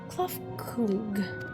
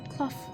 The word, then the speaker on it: K'tharrkug: As for the non nomenclature to address my individual person, I believe it would be pronounced K'tharrkug. Yes, K'tharrkug K'tharrkug of the Eea.